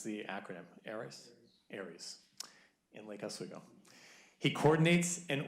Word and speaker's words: ARES: How do you pronounce the acronym? ARES? ARES, in Lake Oswego.